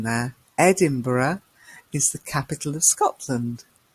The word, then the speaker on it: Edinburgh: of Wales and Scotland is a country and Edinburgh did you spot the pronunciation there Edinburgh is the capital of Scotland and then we